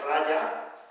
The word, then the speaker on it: raja: integración en inglés entonces no se pronuncia como las jotas castellanas más bien como y entonces raya significa por